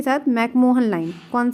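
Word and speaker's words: McMahon: वैसे हम मैकमोहन बोलते हैं अपनी भाषा में, वो एक्चुअली में क्या है? तो मैकमोहन जो है, मैकमीहोन असलियत में उसका प्रोनाउंसिएशन है, पर हम लोग मैकमोहन बोलते हैं, कोई बात नहीं, मैकमोहन लाइन, ठीक है।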